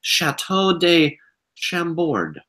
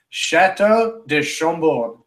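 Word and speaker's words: Château de Chambord: as a phrase, is from France, so he'll pronounce these better than I will. This is Chateau de Chambord.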